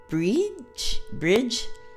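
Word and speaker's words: Bríd: It's pronounced with the long E, similar to the English word breed, but the final D is like the D in Bridget, almost like a J sound, so like bridge.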